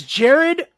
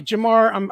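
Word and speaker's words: Jahmyr: Elite quickness and speed and trickiness that is Jared Gibbs out of Alabama excuse me I said his name wrong I'm hyping this guy up and I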